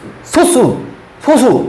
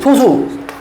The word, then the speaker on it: 소수: 이게 발음이 좀 달라. 소수가 있고 소수가 있어요. 혹시 소수와 소수의 차이 아십니까? 이건 상식이긴 한데 한번 물어보려고. 생각보다 많이 몰라, 애들이. 소수라고 발음이 되는 게 있고 소수라는 게 있어요.